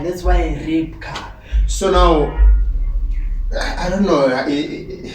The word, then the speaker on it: Rybka: k a and then the Y they pronounce it as a y and you have to pronounce it as an eye that's why rap car so now I don't